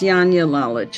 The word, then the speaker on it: Janja Lalich: I've said your name wrong, haven't I? That's all right. It's Janja Lalich. It's not an easy name.